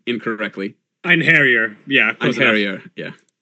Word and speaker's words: Einherjar: So I'm going to add Angela and the Einherjar, which I assume Shawnee will tell me if I'm pronouncing incorrectly. Einherjar.